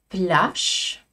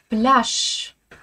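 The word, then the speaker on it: пляж: Et là attention aux faux amis le mot plâche se dit en russe avec un che final. Le jeu français n'est jamais prononcé. On le garde certes à l'écrit mais on le prononce pas. Plâche plâche.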